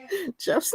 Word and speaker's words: Geoff: Jeff's not gonna do anything. And it's not even just Jeff. It's Jeff that's spelled GEOFF. You know, like it's got the really silly spelling.